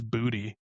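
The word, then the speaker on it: Boutte: I just learned that Kahan I all fantasy season I pronounced it differently. Apparently, it's Booty.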